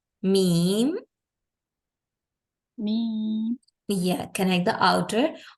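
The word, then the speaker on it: ميم: have to do is we have to join our lips from the outer parts or the dry parts let's pronounce it meem by making the M and M sound in the beginning like this mem me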